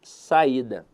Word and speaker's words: saída: E eu quero avaliar com vocês aqui a palavra saída. Veja que a sílaba tônica dela está na penúltima sílaba.